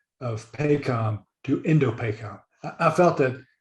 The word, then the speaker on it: Indo-PACOM: But Indo-PACOM, you know, that's how it would be abbreviated, shortened, is pretty good. 5 syllables, I think, and you know, I think we can handle that in normal conversation.